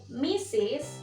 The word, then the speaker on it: Mrs: Tonton videonya yang pertama teman-teman ini ada Mrs dibacanya dengan meses nah misi sini dipergunakan untuk wanita yang sudah menikah ya misis dipergunakan untuk wanita yang sudah menikah misalnya kita